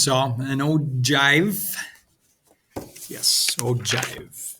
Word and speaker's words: ogive: an old jive yes oh jive there's how you're supposed to pronounce it all right just kind